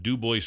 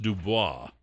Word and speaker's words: Du Bois: Isn't it Du Bois? No, that's not how we pronounce it in America. Apparently not in Idaho. If you're in France, it's pronounced Dubois. Du If Bois. you're in America, it's Du Bois.